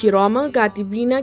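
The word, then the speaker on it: كِرَامًا كَاتِبِينَ: جیسا کاف پڑھیں گے تب اخفا ہوگا. آپ ہجے کرتے وقت میں میم 2 زبر من نہیں کریں گے، کیونکہ ہم کاف نہیں پڑھے. جب ہم کاف کے ہجے کریں گے تب ہم اخفا کریں گے، ٹھیک ہے.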